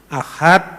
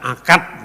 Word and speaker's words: ahad: Huruf itu dia baca k ahad dibaca akad.